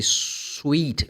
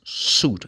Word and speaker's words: suit: They say sweet. No. The letter I is not pronounced. It's suit. It's S-U-I-T. But this word, the letter I is silent. It's mute.